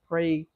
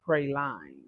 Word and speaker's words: praline: So, I heard the correct pronunciation of prelan is what I used to call it. It is praline.